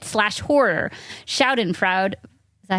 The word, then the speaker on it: Schadenfreude: Schadenfreude. Is that how you say it? Schadenfreude?